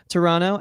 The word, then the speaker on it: Toronto: years ago we were in toronto noticed my pronunciation on that it is correct toronto and uh we were playing a show actually